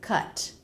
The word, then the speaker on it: cut: The word cut is pronounced with the K consonant sound, the as in butter vowel, and the T. K. Touch the back of the tongue to the soft palate and release. Ka. For the vowel, relax everything. Ka. Let the resonance of the voice fall low. Down here.